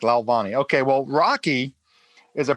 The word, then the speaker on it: Lalvani: forgot to ask you you pronounced it correctly perfect lalvani okay well rocky is